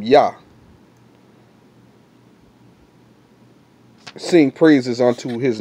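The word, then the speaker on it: יה: And it tells you that that's pronounced yah or yah.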